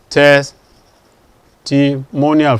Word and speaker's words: testimonial: Or you have, apart from that, you have IAL, the same second to last syllable. Testimonial, for example.